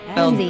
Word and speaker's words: Lynnsey: And am I pronouncing your name correctly, Lindsay? You are Lindsay. I spelled like Lindsay. It smelled very phonetic. Yes, it is very phonetic.